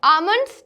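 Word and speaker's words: almonds: Next, आमंड्स, तो आमंड्स में हमारा एल साइलेंट लेटर है।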